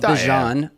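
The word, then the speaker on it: Bijan: He says it's Bjon, not Bjon. Not Djon. Not Yeah, it doesn't rhyme with Dijon mustard.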